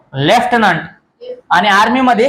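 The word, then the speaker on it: lieutenant: एल टी म्हणजेच ल्युटिनंट ल्युटिनंट म्हणायचं नाही ही स्पेलिंग आहे ल्युटिनंट एल आय इय टी इ एन ए एन टी ल्युटिनंट तर याचा उच्चार होतो लेफ्टनंट आणि आर्मी मध्ये ही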